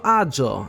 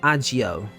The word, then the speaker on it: Agio: jpe not jpe which is weird but also AO not AIO which technically it's not even a name it